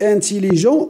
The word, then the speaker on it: intelligent: Regarde, il est anglais. On ne prononce pas S. Grand, on ne prononce pas D. Et intelligent, on ne prononce pas T.